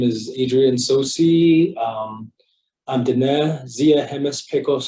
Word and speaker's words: Tsosie: T is silent. Okay. Like the way to say it, Tsosie. So kind of like the Chinese way of so. Okay. So just a T and S make a sound, but English way is Tsosie, no T.